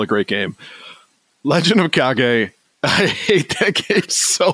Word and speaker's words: Kage: Growing up, Legend of Cage was how I pronounced it. That's how you pronounce it in America, but the Japanese pronunciation is Kage.